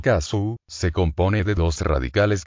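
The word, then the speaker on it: 粕: En japonés el carácter para escribir sobras de comida, pronunciado kasu, se compone de dos radicales que significan blanco y arroz.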